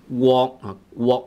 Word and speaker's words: 國: Okay, so his pronunciation of guok is guacamole, guok, GW. Guok, GWOK, guok. He was in between guo and gok, which is not correct. Gok is just GOK, and GOK is not GWOK. GWOK is like guacamole, not guacamole.